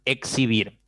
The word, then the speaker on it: exhibir: Cuando la letra X se encuentra entre la letra H o ante la letra H, se pronuncia como si fuese intervocálica. Aquí está. Exhalar, por ejemplo. ¿Ya? Exhalar. Exhalar. ¿Listo? Se pronuncia como si fuera intervocálica. Lo mismo pasa con exhibir.